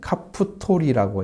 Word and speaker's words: 갑도림: 갑도림은 갑돌 사람이라는 카프토리라고 읽어야 됩니다.